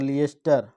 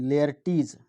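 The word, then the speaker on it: Laertes: और लिएस्टर नहीं, लेयर्टीज, जो लेयर्टीज है ये इसका सन है। ठीक है, यानी पोलोनियस के 2 बच्चे हैं, एक ओफेलिया हो गई, ओफेलिया इसकी लड़की हो गई, और लेयर्टीज इसका लड़का हो गया।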